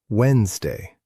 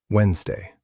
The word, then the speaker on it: Wednesday: The word Wednesday. We write it with a D in the middle, but we say Wednesday, Wednesday.